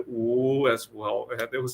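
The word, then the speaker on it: 五: In Chinese, the number five is pronounced "wu," and I would go "wu," meaning I didn't want to wake up.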